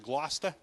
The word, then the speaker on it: Gloucester: our city names because they're spelled differently than they're pronounced like we have a city that's spelled Gloucester we pronounce it Gloucester we have a city